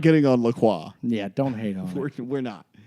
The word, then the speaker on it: LaCroix: La Croix.